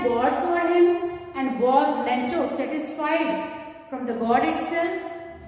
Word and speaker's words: Lencho: Lencho. Some people they call it Lenko also. So names they have various pronunciations depending upon the areas where names are pronounced. Right? So Lenko and Lencho both are correct.